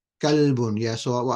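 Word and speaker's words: كلب: Somebody's asking about saying kalbun. Yeah, so what I said is kalbun with a kaf means dog, and qalbun with a qaf means heart.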